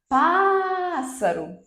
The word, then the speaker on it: pássaro: mim então observem que eu vou segurar essa sílaba tônica pássaro pássaro percebem Então pá é a sílaba que eu mais seguro é a sílaba tônica táxi tá é a